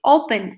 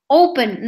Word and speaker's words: open: don't double the consonant the same happens with open I say open not open so because I say open I don't double the syllable okay now we see